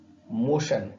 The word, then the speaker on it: motion: TION जब भी आता है तो इसका उच्चारण शन जैसा होता है। For example मोशन, MOTION, सॉल्यूशन, TION का यहां उच्चार भी शन है।